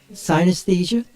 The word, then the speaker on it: synesthesia: Who can pronounce that correctly? Synesthesia?